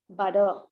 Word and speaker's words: butter: But if it is weak syllable, then you can change the T into D sound. Okay, butter.